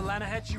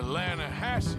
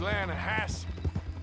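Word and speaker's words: Lannahechee: The other day, I rode down to the Lanahechee River, I caught some beautiful steelhead trout. You mean the Lana Hassee River.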